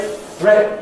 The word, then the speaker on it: threat: Well, it ought to be a great threat to the meat industry. And you notice the words great, threat, meat. Each of them spelled in the same way with the letters E, A, T.